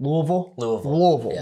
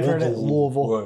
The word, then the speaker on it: Louisville: do pronounce it what Louisville like you got like you got marbles in your mouth this is somewhere Louisville right um but uh